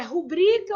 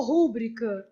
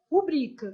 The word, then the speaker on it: rubrica: Tipo assim, é rubrica ou rúbrica? Não pode ter uma questão também voltada para tonicidade? O certo, nesse caso, é rubrica, beleza?